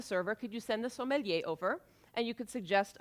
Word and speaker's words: sommelier: all right number two the sommelier that's how you pronounce it sommelier does the sommelier have